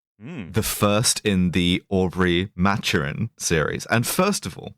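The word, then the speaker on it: Maturin: there are like in Spanish it would be matarin in French it would be mat but uh the the author and the BBC adaptations pronounce it matchin so Aubrey matchin yeah well I think that makes sense though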